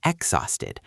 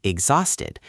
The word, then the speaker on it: exhausted: Most students pronounce the word exhausted with a hard H sound, saying exhausted, and that sounds totally wrong to a native speaker. The H is completely silent, so you should say exhausted, which means you are